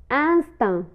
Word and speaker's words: instinct: instinct instinct instinct غريزة.